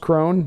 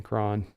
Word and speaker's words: Cron: it leaves his hand demand says it's pronounced Crone my bad I guess makes more sense CJ Crone sounds better than Kron Jason mckuard says come